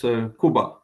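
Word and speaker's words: Kuba: the middle I know the soft name of Jacob in Poland is Cuba oh Cuba interesting so that's more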